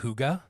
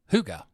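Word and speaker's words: hygge: crazy and listen we talked last season about Huga so we're not going to talk all about Huga but we do want to touch on Huga because our Huga has changed your Huga can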